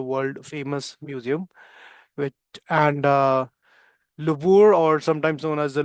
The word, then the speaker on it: Louvre: The Louvre or the Louvre Museum. इसको Louvre or Louvre ऐसे करके, मतलब we pronounce it. It's a French pronunciation.